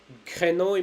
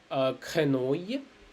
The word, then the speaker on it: grenouille: Okay, mostly 90% of the time I would say you wouldn't spell it. So over here, let's see, fille, quenouille, travail. Okay, Fille means girl. Grenouille means frog.